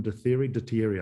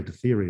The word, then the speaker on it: de Thierry: will have heard of, his name was de Thierry, Baron de Thierry, I think is a more correct pronunciation. Lots of us say de Thierry in New Zealand, I think.